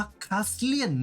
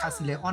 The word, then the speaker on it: Kazilleon: นะ จริง ๆ แล้ว ชื่อ อ่าน ว่า คาสเซียน นะ ครับ คลาส เรียน นะ ไม่ ใช่ คาสิไลออน อะไร สัก อย่าง ก็ จะ เรียน ออนไลน์